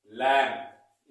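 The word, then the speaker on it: lamb: क्या होता है हमारा एल ए एम बी लैब इसको क्या पढ़ेंगे सही तरीके से प्रोनाउंस का क्या हो जाएगा बट ये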